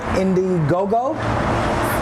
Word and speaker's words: Indiegogo: Y'all told me it's on Indiegogo. Right. Did I pronounce that right?